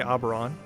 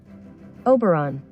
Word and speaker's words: Oberon: let's see i wonder if would you say aberon hello google how do you say operon uh google uh now i do not want to sign into google oberon pronunciation oberon oberon okay yeah i'm saying it pretty incorrectly